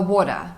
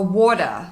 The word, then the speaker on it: water: The primary stress is on the first syllable. So, make sure you make it a little longer.